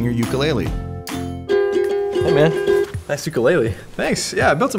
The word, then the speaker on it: ukulele: Hey man, nice ukulele. Thanks, yeah, I built it myself. Actually, in Hawaii, it's pronounced ukulele.